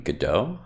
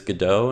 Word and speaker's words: Godot: going to be introducing godot which is the game engine that we'll be using to create games this semester the pronunciation i'm pretty sure is godot not go dot but either way i